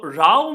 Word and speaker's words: row: we see here is quarrel and dispute so Rao means a noisy argument but when you use it this way it rhymes with cops that's what we were doing